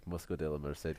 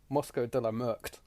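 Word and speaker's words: Mosco de la Merced: Yeah, when I said we figured out, like, I figured out how to pronounce that because of the very helpful commentary. But on paper it looks like Moscow de la Merkt.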